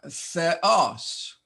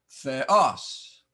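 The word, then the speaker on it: θεός: the context uh Theos notice the accent on the second sound the o no dep thong here there is no dep thong there are seven of them we learned last time but Epsilon Omron is not a dep thong so we must pronounce both sounds Theos god with a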